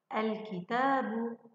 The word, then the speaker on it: الكتاب: يا ترى صوت اللام هنا مسموع أم غير مسموع؟ اسمعي مرة أخرى، الكتاب، الكتاب. إذن هل سمعت صوت اللام؟ نعم سمعنا صوت اللام.